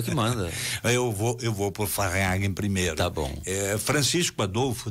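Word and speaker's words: Varnhagen: F. Vanhagen é Farhagen. Farhagen.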